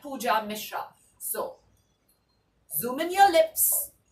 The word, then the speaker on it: Pooja Mishra: band rolling band cloning my name is easy and simple its pooja Mishra like I said not any of those which I said earlier but pooja Mishra so zoom in your